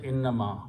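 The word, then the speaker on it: إنما: is one word so don't give a break between that just quickly say inama the meaning will be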